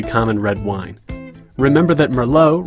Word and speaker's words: Merlot: Remember that Merlot rhymes with Sloppy Joe.